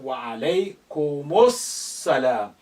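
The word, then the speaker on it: وعليكم السلام: But here you wa alaykumus salam. You are effectively linking the mu sound to the first embedded sin with sukun here. Wa alaykumus and then salam. As you know, these are two sins now because of the shadda. Wa alaykumus salam. That's emphasis.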